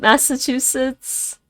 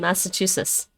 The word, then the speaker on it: Massachusetts: Because you don't pronounce the T in Massachusetts.